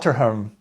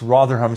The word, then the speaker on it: Rotherham: Rotherham grooming gangs um I may have said rham but it's rham see I'm Dutch so I mispronounced it but uh some actual